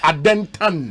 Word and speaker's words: Adentan: The right pronunciation here, adentan.